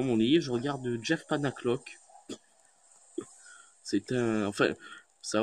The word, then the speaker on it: Panaclock: Alors, si vous voulez rire un bon coup, et je vous le propose, c'est Jeff Panaclock. Vous l'écrivez comme ça se prononce.